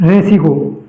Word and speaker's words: ऋ: और हिंदी भाषा में इसका उच्चारण ऋ के रूप में होता है।